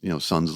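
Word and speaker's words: Sunn O))): Actually, it's pronounced Sun, but it's spelled Sun O, like the amplifier company.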